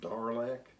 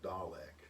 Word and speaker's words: Dalek: Here in the U.S., it's mostly called Darlek, Okay. but in England and other countries, they call it Dalek.